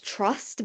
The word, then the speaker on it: TRVST: But then the app was called Trust, but it's spelled TRVST.